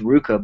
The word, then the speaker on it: RVCA: I mean, this one here, this it's pronounced Ruka, but it's RVCA.